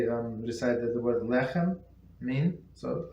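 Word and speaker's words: לחם מן: The last letter of the word lechem, bread, and the first letter of the word min, from, and both mem pronounced like an English M.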